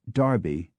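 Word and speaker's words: Derby: particularly in proper nouns such as Darby Barkley and barkshire though there are many exceptions and inconsistencies as with the town of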